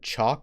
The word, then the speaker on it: chalk: Again, even though we don't pronounce the L, it's not chalk.